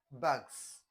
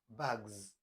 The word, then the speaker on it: bags: It's not bags, it is bags. So the rule says that you this s will change to z, z, z when it comes after a voiced consonant or any vowel.